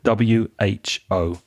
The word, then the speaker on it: WHO: And again, you have to pronounce the individual letters, the WHO.